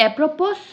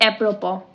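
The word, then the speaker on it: apropos: Next word is एप्रोपो, इसकी pronunciation is नॉट एप्रोपोस, इसकी pronunciation is एप्रोपो, इट इज़ an adverb.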